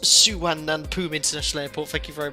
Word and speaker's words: Suvarnabhumi: This place is pronounced Suvarnabhumi International Airport.